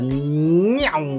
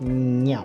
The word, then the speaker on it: Meow: The Meow 75. I think that's how you say it. Meow. Meow. Meow. It sounds like a cat.